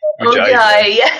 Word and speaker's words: Ujjayi: Ujjayi. Thank you. I'm terrible with pronouncing things.